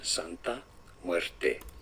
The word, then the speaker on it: Santa Muerte: So just the Spanish pronunciation Santa muerte muerte m I don't know I don't